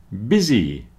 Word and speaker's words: busy: so child not chilled busy rhymes with dizzy so this man is